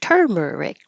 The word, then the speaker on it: turmeric: rule turmeric turmeric I always mispronounce this and put stress on the wrong syllable so I have to think in my head what I'm asking you to do is associate it with a word that has the same pattern and this case this pattern 1 2 3 I think sunflower so sunflower turmeric might help me make that Association to remember it um on this tab